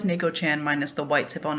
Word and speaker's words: Neko-chan: all kinds of things because no one could pronounce it. Even though clearly it was spelled N-A-Y-K-O-Chan, C-H-A-N, Neko-chan.